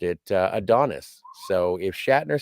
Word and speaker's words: Adonis: like highfalutin and be like, oh no, it's pronounced Who Mourns for Adonias.